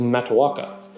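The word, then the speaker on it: Matoaka: this is another name we've Americanized the correct pronunciation is mataka and mataka is the birth name of none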